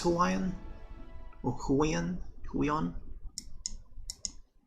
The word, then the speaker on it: Huion: Is it pronounced Hawaiian or Huion? Huion? Huion.